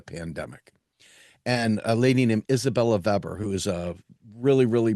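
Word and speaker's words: Isabella Weber: and a lady named Isabella Veber who is a really really brilliant uh economist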